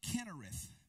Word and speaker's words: Kinnereth: or the Sea of Kinnereth. Kinnereth. Sometimes you see that spelled with a C-H, pronounced with a K. Sometimes you see it spelled with a K.